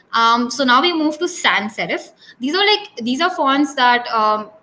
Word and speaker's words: sans: Sans, I think it's pronounced as saw something in French, and it means without.